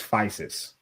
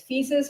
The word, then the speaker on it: Physis: The the name is Fisus. It can be pronounced both ways.